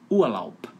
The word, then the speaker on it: Urlaub: Então, um exemplo que eu gosto de dar é na palavra Urlaub. Termina com B de bola, mas o som é de P de pato, um P mudo, né? Urlaub.